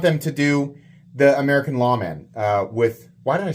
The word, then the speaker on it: Lawman: American says it huh if you're going to pronounce the Taiwanese made American Lawman correctly you say Lawman all right I'm not